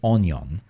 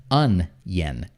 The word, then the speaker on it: onion: it this way and those things something like onyon right and that that's not correct right um